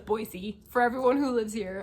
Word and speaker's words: Boise: You can tell I'm not from here by the way I say Boise. I know it's Boise.